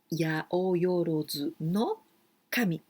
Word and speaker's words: 八百万の神: we've got 八百万の神。八百万の神。Well, here, 八百万の神. But this form to pronounce is very, very, very particular, very special one.